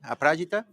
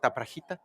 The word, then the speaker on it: Aprajita: AP, Aprajita, not Aprajita.